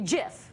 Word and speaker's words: GIF: know what I say I know it's supposed to be jiff right I think this supposed